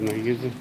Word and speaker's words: Nageezi: Why we pronounce it Navajo is Nageezi.